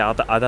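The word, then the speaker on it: 安達太良: に、太いによしで安達太良って読むんですけども、初めて来ましたね。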